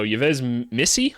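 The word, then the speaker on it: Yves Missi: seen it a ton of times uh so yez Missy I is how you say it and I'm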